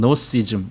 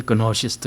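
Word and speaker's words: Gnostic: 근데 사실은 그 앞에 그노시스트 할 때 그 그는 원래는 발음이 안 되는 거예요. 근데 거기 앞에 영어로는 지자가 써 있죠. 그 헬라어로는 감마가 써 있기 때문에 그냥 근을 하는데 그 원래 묵음이거든요. 그게 앞에 있을 때는. 그래서 그냥 노시스트 또는 노시즘 이렇게 발음해야 맞는데 그냥 보통 사람들이 그노시스트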